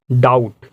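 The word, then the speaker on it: doubt: है, it means यहाँ भी बी क्या होगा, साइलेंट होगा। नेक्स्ट वर्ड है हमारा डाउट।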